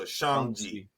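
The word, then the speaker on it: Shang-Chi: his name is shank shangchi okay yeah so it's like sean with a j it's like sean with a g at the end of it so shangji so all right so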